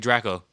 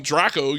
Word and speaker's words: Draco: a soulja boy big draco since we're being grammatically correct exactly you don't call him dracco you call draco but it's draco but